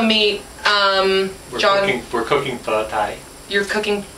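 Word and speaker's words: phở tái: pho tai you're cooking how do you pronounce it correctly tai tai as opposed to pot tied well it's Vietnamese it's not high any bar is Vietnamese soup and tie means the beef is rare oh that's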